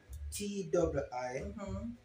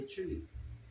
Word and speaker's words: Twi: T w i It is pronounced the Twi or the Twee.